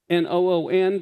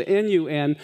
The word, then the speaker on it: Nun: And when I say, it can also be spelled noon like N-O-O-N, but it also, as you see in the Bible, it's spelled N-U-N. But it's not Joshua, the son of a nun. It's the son of noon.